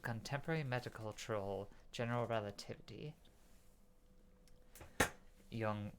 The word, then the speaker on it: Jung: medical chiral general relativity young young like Carl Jung yeah I realized after